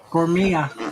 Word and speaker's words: Gourmia: Is that pronounced Guma or Huma? Gourmia. Gomia.